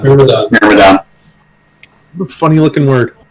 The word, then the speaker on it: Myrmidon: Myrmidon. Myrmidon.